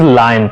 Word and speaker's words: lion: Many people call it loin, which is wrong. The correct pronunciation is lion.